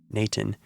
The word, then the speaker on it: n8n: code workflow automation tool called n8n or as it's pronounced naan to build this listener